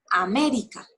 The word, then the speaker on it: América: acento en la antepenúltima aquí tenemos ejemplos américa voy a repartirlo en filas me vi a cuatro sílabas donde es en la fuerza es la última sílaba eri es la penúltima sílaba me es la ante penúltima sílaba ya tenía la atrás